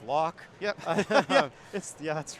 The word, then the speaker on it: LOK: Once you spell the 3 letters, the LOK, Up here, yeah. which phonetically is lock.